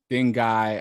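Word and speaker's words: dengue: FEA and and ding dingi I was looking up how to pronounce this word and I was seeing all these different ways to pronounce it but I think it's ding d n g e uh so ultimately female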